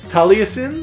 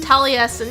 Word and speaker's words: Taliesin: for the DLC guys this is you can't pronounce that Taliesin Taliesin yeah it's a name from I want to